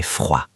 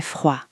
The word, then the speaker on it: froid: Attention à la prononciation, il fait froid. Le dé est silencieux. Il fait froid.